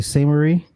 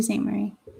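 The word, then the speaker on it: Sault Ste. Marie: it's where's there's detroit you say say marie yes to st murray i guess like how do you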